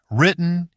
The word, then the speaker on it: written: In natural speech, that weak vowel reduces and the T doesn't fully release, so the whole middle section sounds compressed. Let's start with written. Written, written. Good. This time, don't try to burst that middle T strongly, like a full separate syllable.